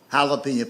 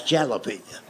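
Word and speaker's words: jalapeño: That's jalapeno." And I made the mistake of trying to explain that to him. I said, "I know it's a J, but it's pronounced with an H.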